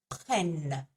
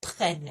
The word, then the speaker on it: prennent: So it sounds like this: ils prennent, ils prennent. And yes, there is an ENT on the end, but the ENT on the end of a verb is silent.